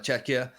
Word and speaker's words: Czechia: We see a Stocky Shadows go down here for Czechia. I think I finally pronounced it properly.